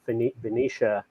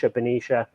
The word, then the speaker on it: Benicia: Valero has already made the decision to shut down the refinery up in Benicia. I think that's how you pronounce it. Benicia, California.